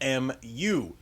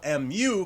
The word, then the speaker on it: Mu: In statistics, the population mean, or average, is given by the Greek symbol Mu, which is pronounced very similar to Mew.